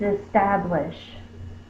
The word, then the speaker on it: establish: The next word is establish. Establish. It's got 3 syllables because it has 3 vowel sounds. S, tab, lish. Is is a short I sound.